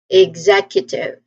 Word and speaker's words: executive: So executive the primary stress again is on the second syllable.